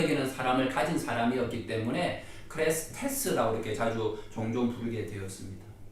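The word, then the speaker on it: χρηστός: 그리스도 기름 부음을 받은 자, 이 그리스도의 헬라어 발음이 크리스투스입니다. 크레스투스이고요. 자비가 크레스테스입니다. 이 두 단어가 비슷하지 않습니까? 크레스투스와 크레스테스, 이 두 단어가 참 비슷하다 보니까 과거 헬라인들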